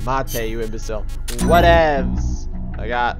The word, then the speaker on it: mate: It's pronounced mate, you imbecile.